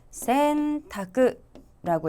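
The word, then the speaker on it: 選択: 자, 그리고 보기 3번 우리말에 선택 발음하시면 센타크라고 읽었고요.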